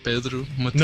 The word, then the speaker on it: Pedro Mateus: Which sounds a lot like Pedro Montez. Pedro Mateus.